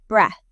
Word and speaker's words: breath: It has a short e sound, like in the word bed. And ends with a soft, quiet t h sound. You take a deep breath.